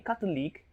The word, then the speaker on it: catholic: in lic or ic anytime a word ends in ic you place the stress on the syllable before the ic the syllable before the ic in catholic or this label before the lic in cartoon league is 2.